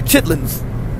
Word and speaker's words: chitterlings: It's almost like cleaning out chitterlings. Or in the country, chitlins. They take the ER and all of the other things out. They don't worry about pronunciation. And if they're grammatically correct, they just chitlins.